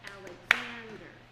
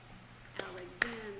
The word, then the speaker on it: Alexander: talk about the rhythm, like the name Alexander. The stress is on the third beat, and so you would have like a 2/8 note pickup, Alexander, Alexander.